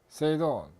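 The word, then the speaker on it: 整頓: 일본에서 생긴 활동인데 발음이 일본말로 정리는 세이리, 세이돈, 세이소, 세이게츠, 시츠케 이렇게 읽습니다.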